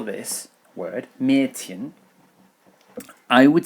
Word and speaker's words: Mädchen: Another an example of this pronunciation in German is Mädchen. Mädchen. Now the D is pronounced as a T here, but Mädchen. So if I wanted to spell this word, Mädchen, I would spell it like this.